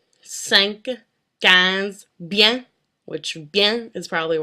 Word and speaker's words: bien: It's in the words like 20, 5, 15, bien, which bien is probably a word you're going to use quite often.